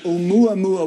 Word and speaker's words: Oumuamua: I don't know how it's pronounced. Oumuamua. Oh, really? Yes. Actually, I'll take it back. Oumuamua, which loosely means a messenger that reaches out from the distant past.